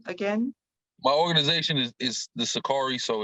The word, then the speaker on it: Sicarii: My organization is the Sakari, so it's spelled SICARII.